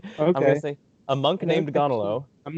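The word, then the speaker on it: Gaunilo: differently i've heard people some people pronounce it guanalo like a ua and other people say like gonilo or ganilo i'm just i i don't know about you i'm just gonna say gonolo that's all i'm gonna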